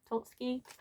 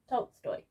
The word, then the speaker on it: Tolstoy: The other one is Leo Tolsky. One moment. Tolstoy.